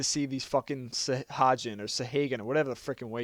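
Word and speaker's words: Sahagin: I can't pronounce their fucking names, but I've been calling them Sahagan for like the past 2 years, but I think they're called Sahajin. I think that's the way most people are saying how to pronounce them.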